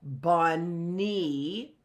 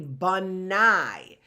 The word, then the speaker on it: bunny: how to pronounce it it's easy once we got the bun part to pronounce it right and see that right there's another end there so bunny right it's not going to be banai so we're learning that the why when we see a y it can have an i sound a long I sound or a long e sound right so what's the